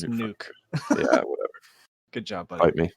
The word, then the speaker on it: Nuk: I got to go Nook Hopkins. Who? DeAndre Hopkins. Oh, Nuke. Nook. Nuke. Yeah, okay, whatever pronunciation. It's Nuke.